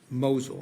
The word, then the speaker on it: Mosul: Now, the next entity Rentec used in these basket deals was Mosul. Am I pronouncing that correctly?